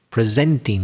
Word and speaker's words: presenting: Presenting, yeah, I stressed the second syllable.